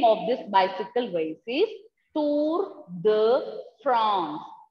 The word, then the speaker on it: Tour de France: And this is a name of this bicycle race is Tour de France. France is pronounced as France. Tour de France. Please do repeat and learn the pronunciation.